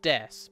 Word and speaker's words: desu: Destiny mean that's there it's pronounced desu but it means it is and then name means